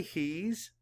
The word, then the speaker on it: he's: one is he's say he's he's means you'll by the way meant you will he's means he is map the sounds he's that s makes a z sound spell it h e